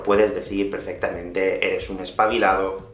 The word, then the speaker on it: espabilado: al igual que antes normalmente aquí en españa los españoles no pronunciamos esa ultimate así que alguien te puede decir eres un espabilado o eres una ex para vilar así es como lo diríamos los nativos pero puedes decir perfectamente